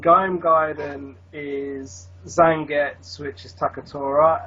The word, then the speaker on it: Gaiden: I mean, whether you want to pronounce it Gaiden or Gaiden. Gaiden.